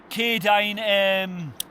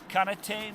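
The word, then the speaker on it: Katadyn: That there is my K-Dine water filter. Is it K-Dine? Is that how you say it? Canatine? Let's have a look. It's one of them, is it K-Dine B3? K-Dine, yeah, or Catadine B3, water filter, a litre, black in colour, brilliant.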